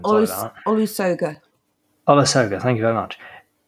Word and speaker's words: Olusoga: Olius Sogas, I genuinely don't know how to say his name. Olusoga.